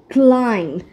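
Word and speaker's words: climb: হবে এভাবে bomb bomb তারপর আমরা পাই ক্লাইম্ব সো ক্লাইম্ব মানে কি আরোহণ করা কোথাও ওঠা তাই না সো সি এল আই এম বি এটাকে কিন্তু আমরা ক্লাইম্ব বলবো না আই এম ক্লাইম্বিং নো আই এম ক্লাইম্বিং সো সি এল আই এম এ পর্যন্ত উচ্চারণ করবো ক্লাইম্ব নট ক্লাইম্ব সো ইটস ক্লাইম্ব তারপর রয়েছে ক্রাম্ব ভুল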